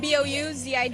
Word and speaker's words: Bouzid: spell that for me if you would. And what's your last name? B-O-U-Z-I-D, Bouzid.